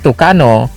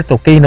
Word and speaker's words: Tucano: di lalong wala ang super tucano sa Spanish pronunciation pero super tokino sa English pronunciation at sa bisayan pronunciation naman ay super tuka ay ini-endorso ito ni